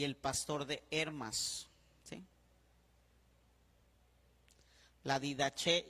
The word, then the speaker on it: Hermas: Y con acento en la E, Didaché, Didaché. Y el Pastor de Hermas, Hermas.